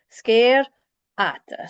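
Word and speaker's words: sgeir fhada: Scare ata. So the FH is not pronounced, and the D, you just want to stick your tongue against your teeth for a split second.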